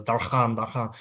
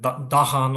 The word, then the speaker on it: Darkhan: So Darkhan. Because Darkhan? yes, usually people pronounce it like Dahan or Dargan like this.